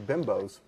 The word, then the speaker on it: Bimbo: eating a bunch of bimbos yeah right what that's pronounced bimbo bbo oh bimbo hi